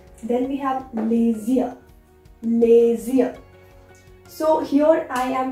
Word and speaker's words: les yeux: I am combining this S and Y and making a sound of Z. Les yeux. Les yeux. The same way you are going to pronounce, that is les yeux. Alright, not les yeux separately. It's like combined les yeux.